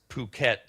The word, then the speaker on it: Phuket: Uh, and oh, and uh, a lot of it's it's Phuket, Thailand. Not it's not pronounced.